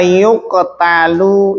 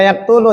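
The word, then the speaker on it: يُقْتَلُ: Ini jangan dibaca yaktulu ya. Karena apa? Karena ini fi'il mabni majhul yang tidak diketahui, tidak disebutkan apa?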